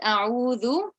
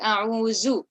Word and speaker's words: أعوذ: But I noticed when you said a'udhu, you said a'uzu.